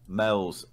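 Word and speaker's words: Meols: if nothing else so yeah absolutely seeu one mels spelled m e o l s it's a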